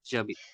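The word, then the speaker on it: J'habite: So usually we use to say that Jabit a Bangalore, like I live in Bangalore. But H is silent over there. We are pronouncing as with A-B-I-D, Jabit.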